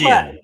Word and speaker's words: Piligian: Am I pronouncing that right? Piligian, but you're close. Piligian. Yeah. Piligian.